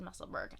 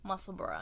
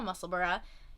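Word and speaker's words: Musselburgh: meaning to make this i said muscleburg i meant muscle bra i'm trying to say it right i've got a muscle burra that i've been meaning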